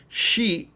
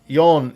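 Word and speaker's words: 四: In fact, we saw 4 seasons, which is interesting because shi is how you say 4 in some respects, and yon is how you say 4 in others.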